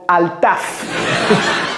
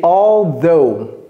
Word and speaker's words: although: J'entends très souvent altaf. Est-ce que c'est altaf? C'est pas altaf, c'est although.